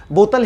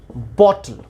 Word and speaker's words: bottle: इसकी जो right pronunciation होगी दैट इज बॉटल। बॉटल आधा ट ल, इसको आप बॉटल पढ़ें या बॉटल, ये दोनों सही है।